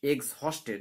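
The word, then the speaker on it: exhausted: সেই পাখিগুলো, আর এক্সহস্টেড, এক্সহস্টেড এটার উচ্চারণ এক্সহস্টেড, ডিউ টু দ্য হট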